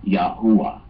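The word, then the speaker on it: Yahweh: had doctorate in it told me the correct pronunciation for the Hebrew Tetra grittin would be yahwa so so that is the name of the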